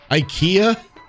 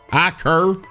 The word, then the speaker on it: Iker: Iker? Iker? IKEA? I-K-E-R. IKEA. Is that how it's pronounced? Iker? Iker. Iker? Iker. Iker. Iker.